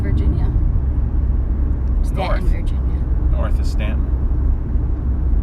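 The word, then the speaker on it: Staunton: Stanton Virginia North is Stanton I can never remember how to pronounce it I'm so sorry yeah just pretend there's no you in it St in Virginia the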